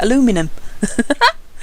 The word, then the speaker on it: aluminium: You could use aluminium for this if you wanted, or I'm trying to remember how you say it in America, aluminum.